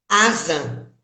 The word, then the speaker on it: Hazan: É Hazan? Hazan. O H é mudo. H mudo.